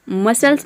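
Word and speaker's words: muscles: यहाँ पे आप देख रहे हैं कि एस और सी बीच में आ रहा है, एस सी। तो आप इस तरह से इसको याद रख सकते हैं कि एस सी, किसी भी वर्ड में अगर एस सी एक साथ आ जाता है तो इन दोनों को मिलाकर हम स प्रोनाउंस करते हैं।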